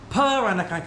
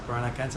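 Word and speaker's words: Peranakan: I live here and I come from the very unique culture in Singapore called the Piranakan culture. It's spelled P E R A N A K A N.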